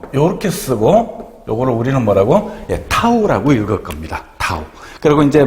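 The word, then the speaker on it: tau: 타우라고 읽을 겁니다.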